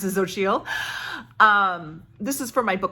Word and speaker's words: Xochitl: And thanks to Mariandra for telling me how to pronounce it, Xochitl.